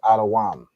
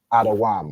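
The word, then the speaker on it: אדום: So Adawam is how you'd say Edom in Hebrew.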